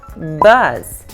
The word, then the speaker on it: bus: Então vamos começar falando da palavra bus. Bus. Quando você pronuncia bus, que é ônibus, é muito sutil, você abre bem pouquinho a boca, é como se você tivesse um sorrisinho, entendeu?